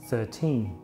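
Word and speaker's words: thirteen: In the word 13, the stress is on the second syllable, 13, while in 30, the stress is on the first, 30.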